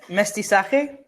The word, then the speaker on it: mestizaje: How do I pronounce this word? Mestizaje?